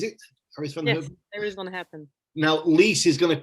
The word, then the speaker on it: Iris van Herpen: Yes, Iris van Herpen. Now, Lise is going to kill me for my French pronunciation with Hawkshire.